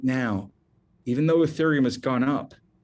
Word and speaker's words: ethereum: spell that for you e-t-h-e-r-e-u-m it's pronounced ethereum if you only buy